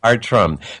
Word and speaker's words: Bartram: to take that but it's pronounced art rum but no matter how